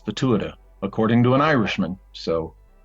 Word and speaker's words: Tuatha: you're talking about I said how do you pronounce that he says so I heard people saying TOA or all sorts of crazy things but it's the Tua according to an Irishman so I figured you